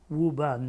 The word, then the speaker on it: Woburn: We don't pronounce the R's, do we? Woburn, Mass.